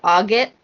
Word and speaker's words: agate: Some of the crystals that you can work with are aquamarine, quartz, and is it agate or agate?